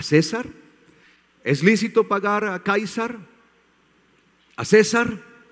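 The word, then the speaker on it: Καῖσαρ: es un título y Cómo se dice César en griego se dice kaisar en griego kaisar Sí kaisar cuando le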